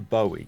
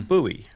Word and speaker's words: Bowie: Already there was another towering figure, Jim Bowie or Bowie. Feel free to continue the 200-year-long argument about how to pronounce that one in the corner.